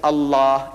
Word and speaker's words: Allah: only thing i'm saying you must pronounce it the way i ask you to pronounce allah you can spell it but say allah not allah you know what in